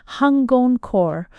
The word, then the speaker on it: Hangon-kō: It was called Ewan Huan Juan by Japanese pronunciation hungon core or spirit recalling incense.